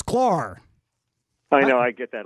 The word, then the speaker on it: Sklar: I keep wanting to say Skylar, but it's Sklar.